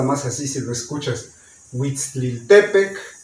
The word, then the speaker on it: Huitzilopochtli: se acentúan aquí en la penúltima sílaba. O sea que de por sí decimos Huitzilopochtli, pero el acento está mal porque no se dice Huitzilopochtli. Se tendría que decir Huitzilopochtli.